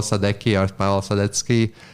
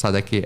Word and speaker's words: Sadecky: it's pretty much my name which is sadecki and um how do you spell that uh so first name is last name it's sadaki s-a-d-e-c-k-y looking a very European name especially if